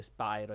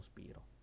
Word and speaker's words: Spyro: semplicemente è un nome e però la gente si lamenta che si dice Spyro e non spiro o viceversa spiro e non Spyro Signor si dice lo stesso modo e questi nomi di